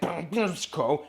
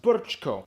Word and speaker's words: Brčko: I know, it looks like Brčko. It's pronounced Brčko. That was a quadruple diphthong.